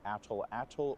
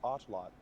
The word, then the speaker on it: atlatl: of the language nawat, you do not pronounce the L at the end of the word as a syllable. So pronounced correctly, the word is atlot.